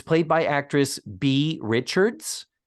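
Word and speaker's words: Beah Richards: It's written B-E-A-H. I don't think it's pronounced Bea. I think it's just B. Richards. I think the H makes it Bea. Does it make it Bea Richards? Yeah. Mm-hmm. Otherwise, why put the H?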